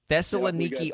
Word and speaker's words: Thessaloniki: again Thessaloniki you got it you nailed it Thessaloniki All-Stars 10 a.m Friday good luck with the pronounced pronouncers over there so we've got uh